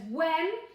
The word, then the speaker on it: when: one here they says when and if you're a good speller you'll know that when has a silent H in it so this is not